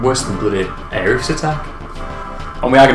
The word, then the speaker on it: Aerith: get in line with how she was named in Japanese, Aerith, rather than Eris, but because they pronounce that Erisu, they just don't know if it's which.